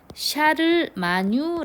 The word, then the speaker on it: 샤를마뉴: 루스 대지의 대해서 살펴보았습니다 이카로스 대제를 프랑스식 발음으로는 요 샤를마뉴 라고도 부릅니다 같은 인물입니다 심화 학습으로